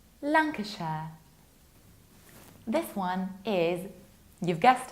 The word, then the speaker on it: Lancashire: And analogically, this county is pronounced like Lancashire, Lancashire.